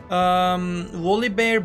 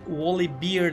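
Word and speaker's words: Volibear: Wally Bear baya baya güçlü bir şampiyon. Wally Beard diyenler var ama o Bear diye okunuyor. O yüzden ben de öyle okuyacağım.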